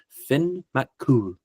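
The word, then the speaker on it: Fionn mac Cumhaill: Uh, there there lived a poet and seer named Finn Makul. Nailed it. Um, though I feel like people who aren't reading this won't know how much of an achievement that was. Um, that's not how it's spelled. No, it's it's Irish.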